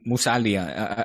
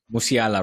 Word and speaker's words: Musiala: That and Musalia. I feel like I'm not pronouncing his last name right. Musiala, right? Yeah, exactly. Depending where you listen to, they pronounce it differently in what country.